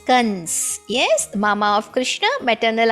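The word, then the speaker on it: कंस: A dot, kang. That is Kans.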